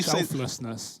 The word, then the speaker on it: selflessness: How do you say selflessness? That's the one. I put a sh in it when there's no sh.